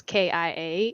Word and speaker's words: Killa: by k-i-l-l-a uh okay so the way it's pronounced is kind of like you know how uh tortilla is yes spanish words so you pronounce it without the l's so i mean technically the way you would pronounce it is k-i-a it's kia so you just the l's are silent so but your full